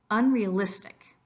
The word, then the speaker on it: unrealistic: the rest of them listen to it carefully again and repeat it unrealistic you really have to two of those syllables get extra emphasis the first one would be the unn but also the it of realistic unrealistic there are some other things